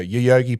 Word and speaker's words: Yoyogi: And so, yeah, Yoyogi, so it's spelled Yoyogi.